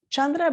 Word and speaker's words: chandra: you about chandra vedana chandra by the way if you're taking notes um you could spell it like c c-h-a-n-d-r-a but in sanskrit we don't write ch the c has a c-h sound so you can also